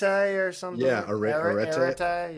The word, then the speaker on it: arete: Yeah, arete. Yeah, I don't know how to say it either. It's Arete. My Greek pronunciation is not great. I just know I think of the country Eritrea when I heard it. That was the first thing I thought.